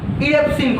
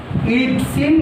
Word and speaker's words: Erepsin: ঠিক আছে, আন্ত্রিক গ্রন্থি থেকে কি খরিত হচ্ছে বললাম, ইরেপসিন খরিত হচ্ছে, তাই তো? একমাত্র একমাত্র উৎসেচক যেটা আন্ত্রিক গ্রন্থি থেকে খরিত হচ্ছে, এবং এর নাম কি পেলে, ইরিপসিন বা ইরেপসিন, একই ব্যাপার, EREPSIN, তাই